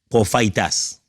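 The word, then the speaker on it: προφήτης: Prophaitas. C'est comme ça qu'on prononce, prophaitas.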